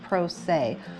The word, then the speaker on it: pro se: And those people are called pro se which is p-r-o s-e and it's pronounced "pro-say", and if you're going